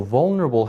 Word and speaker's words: vulnerable: So vulnerable has 4 vowel sounds, 4 syllables. Vulnerable. And when a word has more than one syllable, one of them gets the accent, which means we say it louder than the others.